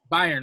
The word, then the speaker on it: Bayern: Did I pronounce that correctly? Bayern, okay.